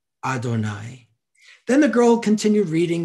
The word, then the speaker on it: Adonai: lines side by side you have to pronounce it as adonai adonai of course is the way we talk about god in hebrew and that's how we say god's name now we don't really